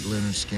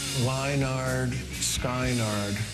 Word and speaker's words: Lynyrd Skynyrd: called pronounced was cuz people would see the name and they didn't know how to pronounce that with all the wise didn't look like linard skin it just look like lard Skynard I went to them